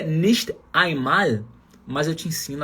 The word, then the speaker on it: nicht: Na verdade, se for pronunciar bonitinho, nicht mal. Não é porque a palavra nicht, na linguagem falada ali, dificilmente você vai colocar a letra T. Você fala só nicht.